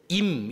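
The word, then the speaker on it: אם: 네모난 글자 그 옆에 그걸 이제 발음하면 임 이런 뜻입니다 임 뒤에가 야회 이런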